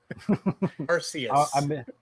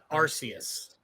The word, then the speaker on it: Arceus: Arceus. Arceus. You heard it here first, folks. We've been putting the wrong emphasis on the wrong syllable.